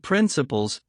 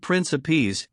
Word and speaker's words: principes: We, the older generation, think that without principles, Pavel Petrovich pronounced the word principes in the soft French way, while Arkady on the contrary pronounced it principle, stressing the first syllable.